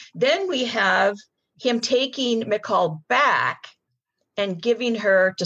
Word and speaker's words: Michal: Michal? It looks like Michael. Yeah, it's Michal in Hebrew.